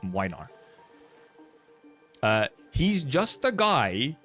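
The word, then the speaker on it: Młynar: Uh, and then Gregor's guy, Minar, that's how you pronounce it, by the way. Minar. It's a It's a Polish name. It has a weird letter in there. It's Minar.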